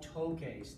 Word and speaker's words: toques: the camera, it's no toques, T-O-Q-U-E-S. Do you remember a few chapters ago when we learned tocar, toque? To make the K sound, you add Q.